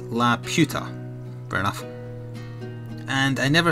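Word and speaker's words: Laputa: Except, I think, La Puta, which is pronounced La Puta.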